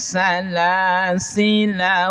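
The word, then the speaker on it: سلاسلا: Jadi lafaz salas sila jika dibaca wasal lnya dibaca pendek.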